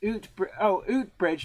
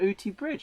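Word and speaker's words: Oughtibridge: Ryan says Blue Peter ot bridge near Sheffield pronounced 800 bridge not ot bridge uh-huh yeah there's a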